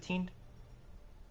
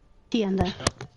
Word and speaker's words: Tienda: Is it Teen? Tienda. Tienda. Tienda.